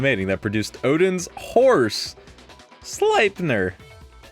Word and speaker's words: Sleipnir: Oh, Loki was the female in the mating that produced Odin's horse, Sleipnir. Because I pronounced that correctly. Sleipnir.